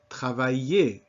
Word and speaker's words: travailler: way, but that sound in an ER at the end of a word, as in parler, travailler. You are going to learn a whole host of verbs whose basic form, called the infinitive, ends in this ER and is pronounced E.